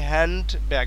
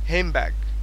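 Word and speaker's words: handbag: ব্যাগ হবে না মানে ডি আসবেই না বরং ডি এর জায়গায় আবার এম হবে দেখো এখানে বলতেছে যে সঠিক উচ্চারণটা আসতেছে হেম ব্যাগ হেম আবার ব্যাগের এক্ষেত্রেও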